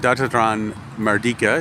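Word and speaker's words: Dataran Merdeka: it's a sports field and um and it's pronounced datra datran mardika as you can see over there and uh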